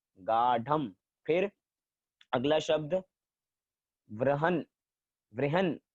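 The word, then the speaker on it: गाढम्: गाढ़म, ढ ढ, गाढ़म।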